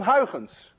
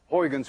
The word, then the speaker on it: Huygens: we now know as Huygens principle. At least you call it Huygens principle. But we don't call it Huygens principle. You see, this sound, UY, is pronounced in Dutch as ui.